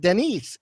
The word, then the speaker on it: Danis: me on I mean officially it's Denny that's the French pronunciation I am french-canadian after